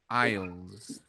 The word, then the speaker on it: aisles: In English, you call them aisles, Okay. and that is spelled. Let me share the my notes with you. Mm-hmm. Okay. Like this, aisles. Aisles. Hmm. Aisles. There's a silent S there, aisles.